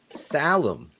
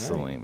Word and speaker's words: Salim: salim i think so phil who's right salim or salim salim shane's right it's saleem it's got to be